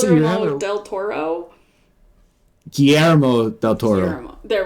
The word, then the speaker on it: Guillermo del Toro: Yeah, it's Guillermo del Toro.